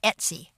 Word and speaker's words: etc: And we want to go to the folder /etc, which is pronounced Etsy, and then click Go.